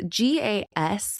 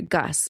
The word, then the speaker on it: GAZ: It was manufactured by the Soviet company, I believe it's GAS, and I believe it's gas is how it's pronounced. Uh or no, I'm sorry, Gus. Gaz.